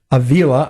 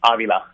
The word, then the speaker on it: Avila: having me on and how do you pronounce your last name Avila or Avila it Avila Avila Peter was right pita had the pita had the correct pronunciation so all those years